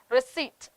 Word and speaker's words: receipt: budget d is silent receipt okay p is silent and bokeh okay so